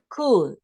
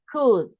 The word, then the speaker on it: could: the basic one is could okay could we don't yeah we don't we say could and we don't pronounce the L the L doesn't appear okay could could you